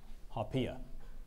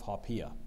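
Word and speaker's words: haupia: pudding made of corn starch and coconut cream haia haia may I please have all the information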